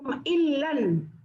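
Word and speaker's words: إِلًّا: Wa in yadharu alaikum illan. Jadi membacanya ini illan Bu, harus illan, bunyi nun mati, bunyi nun illan, karena kalau illa itu kecuali, kalau illan artinya keluarga.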